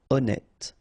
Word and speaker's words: honnête: So remember, H doesn't exist. Honnête.